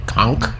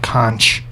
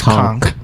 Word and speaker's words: conch: Conch. It's that's how you actually pronounce it. It's not Kunch. It's conk.